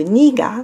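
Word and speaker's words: 네가: Aí esse nega que tá escrito aqui, ele às vezes é pronunciado niga, só pra diferenciar do nega.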